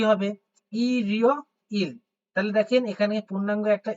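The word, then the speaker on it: 일요일: আমি এটা লিখে দেখাইছি তাইলে দেখেন কি হবে ই রিও ইল তাহলে দেখেন এখানে পূর্ণাঙ্গ একটা ই টা উচ্চারণ করবেন এখানে পূর্ণাঙ্গ ই টা উচ্চারণ হবে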